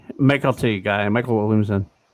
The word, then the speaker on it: Mykelti: Yeah, it's MYKELTI. Like Michael I T, was yeah. told it was like Michael T.